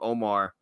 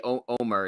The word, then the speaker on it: Omer: But also we kind of got an interesting tidbit from Omar, or I should say Omer is how you pronounce his name.